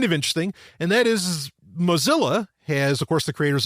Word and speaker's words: Moz://a: But now their branding is Mozilla, but it's spelled MOZ://A. Just like if you're typing in HTTP, right? And then, colon, so, right. So the colon, then the 2 slashes makes up Mozilla.